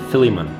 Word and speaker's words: Philemon: and turns out that they did not pronounce it Philemon they pronounce it Philemon Philemon and so I they